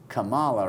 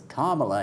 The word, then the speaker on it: Kamala: I think if you tell Trump, hey Trump, it's not Kamala, it's Kamala, he's probably not going to go for it, I don't think.